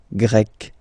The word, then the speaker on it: Grec: You write them differently, but then, if you listen carefully, Grec, you pronounce them the same way.